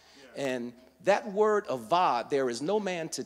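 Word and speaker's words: עבד: Now, that word till is the word, it's spelled A-B-A-D, but it's actually pronounced avad. Yeah. And that word avad, there is no man to till.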